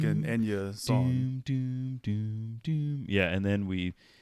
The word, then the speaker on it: Enya: go sojourow hmm so the correct pronunciation for the Celtic singer Enya is Enya not Anya now we did so